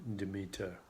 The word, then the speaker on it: Demeter: So Demeter is the first goddess, Demeter. Some people pronounce her Demeter.